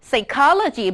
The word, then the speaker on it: psychology: ด้วย คำ ว่า Logic การ stress เสียง นั้น จะ เกิด ขึ้น ก่อน หน้า คำ ว่า logy เพราะ ฉะนั้น น้อง จะ ออก เสียง ว่า psychology Biology นะ คะ sociology cardiology cardiology แปล ว่า